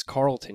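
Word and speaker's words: Carleton University: a chaser is it's Carlton University correct I looked up the pronunciation so I hope it's right Carlton yeah like uh like a character from yes that's a that's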